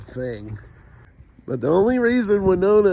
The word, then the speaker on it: Winona: but the only reason Winona is in the song is it Rhymes it rhymes with Arizona and it's out of